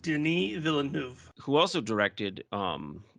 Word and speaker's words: Denis Villeneuve: directed by he is french canadian that is pronounced denis villeneuve who also directed um like blade runner 2049